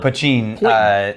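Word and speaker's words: poitín: if you can find puccin this is called pachin then that's going to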